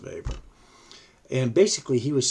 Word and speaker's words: Weber: Okay, so it's pronounced, it looks like Weber, it's pronounced Weber.